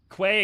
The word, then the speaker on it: quay: It's that is key, like a key. You know, like the like it's not a nautical term, but like that. Yes, it is key. Quay and key are both valid pronunciations.